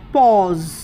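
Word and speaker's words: pause: से पॉज पॉज पॉज पॉज में भी ए यू ए रहा है और उसका उच्चारण ओ हो रहा है पॉज या जैसे सॉस एस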